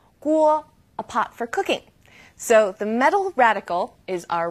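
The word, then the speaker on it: 四: has a saying good things come in pairs so you want an even number that's easy to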